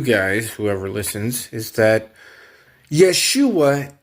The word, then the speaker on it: Yeshua: So, first of all, what I want to tell you guys, whoever listens, is that Yeshua is Jesus' name pronounced in Hebrew, the Hebrew tongue, the Hebrew language.